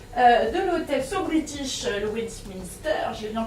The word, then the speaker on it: Westminster: Alors, aujourd'hui, on va parler afternoon tea avec le chef pâtissier de l'hôtel So British, le Westminster. J'ai bien prononcé, non pas terrible.